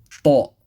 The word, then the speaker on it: ط: Ta. Same as ta, but with the full mouth.